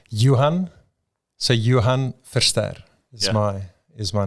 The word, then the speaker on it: Johan: It's Johan.